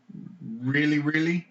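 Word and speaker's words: Rilly: Our parents didn't really like me. So, yeah, got named that. But, What is his name? Really. It's spelled R-I-L-L-Y, R-I-L-L-Y.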